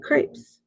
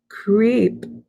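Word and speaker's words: crêpe: the heavenly smell, and see a stall advertising crepes. What's a crepe? I ask, sounding out the word. Dad chuckles. It's pronounced crepe, he explains, and it's like a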